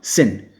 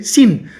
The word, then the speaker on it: sin: Scene ሳይሆን sin. So sin is ኃጢአት. Sin. You guys don't forget this one. Sin ነው, okay? Scene ሳይሆን sin.